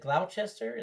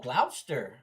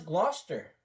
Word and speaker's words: Gloucester: Gl Oh, Glouster. Okay. Or Glouester. Gloucester. Glouster. Okay. Let's pronounce Gloucester. Awesome. I never would have got that from that. I never would have got Glouester from that.